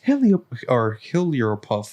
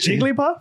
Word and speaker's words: Jigglypuff: And then we're like, it's Heliopluff or whatever the Pokemon is called. Girl, what did you just say? Did I say it right? No. How do you say it? Jigglypuff?